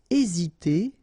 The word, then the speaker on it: hésiter: Aider à, hésiter à, remember H is not pronounced, so first letter here is A, hésiter.